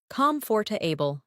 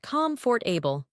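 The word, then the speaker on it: comfortable: Comforable, not comfort for able.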